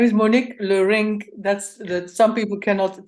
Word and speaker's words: Leurink: say that again is my name is Monique lorrink that's that some people cannot pronounce it well but it's okay yeah I